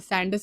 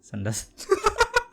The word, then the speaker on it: Sandus: There is another place called Sandus Road. We don't want to know what they pronounce it as in Hindi. What? Sandas? I just guessed. Some By people Sandas like क्या हो गया? Sandas Road. People say Sandas Road. And I'm like, no, it's Sandus.